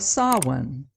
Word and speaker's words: Samhain: Halloween has its roots in an ancient Celtic festival of Samhain, not pronounced the way it looks.